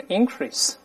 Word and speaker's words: increase: 增长当动词都是 increase，但名词都是 increase。 The accent is on the first syllable，重音在第一个音节，这是当